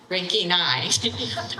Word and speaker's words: Reginae: And there's a macron here, which makes that say E, and there's a macron here, which makes that say A. Regina. Reginae.